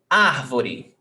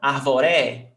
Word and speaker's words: árvore: Árvore, 3 syllables. Ar, vo, re. Árvore. Ar tem acento. Is the stressed syllable. Árvore. You don't say arvore. No, arvoré.